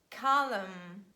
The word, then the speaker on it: column: Next one is letter N, and letter N is silent after letter M at the end of words. It's so logical, it's quite hard to pronounce m together. That's why omit it. Make it easier and say hymn, autumn, column.